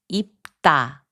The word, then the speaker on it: 입다: 입다, which means to wear, is pronounced as 입다.